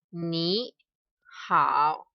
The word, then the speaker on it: 你好: This one we pronounce 您好, and this is 你好.